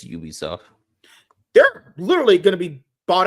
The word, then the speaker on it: Ubisoft: franchises Assassin's Creed yeah a little do you pronounce it Ubisoft or Ubisoft it's Ubisoft they're literally gonna be bought out by 10